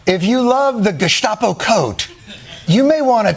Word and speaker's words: Gestapo: In America, we pronounce it Gestap.